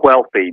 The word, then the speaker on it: Whealthy: wealthy and healthy and if you want to know how to pronounce it if you're familiar with Family Guy it's the same way Stewie pronounces wheat thin and cool hwhip I love that but